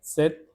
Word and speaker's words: cet: So, Cette, Set, say. The first one, so, is used with a masculine singular noun. Second, Set is used with a feminine singular noun.